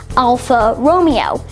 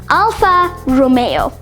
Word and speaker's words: Alfa Romeo: It's commonly mispronounced as Alfa Romeo, but this car brand was originally pronounced Beta Juliet. Nah, I'm joking. It's actually pronounced Alfa Romeo.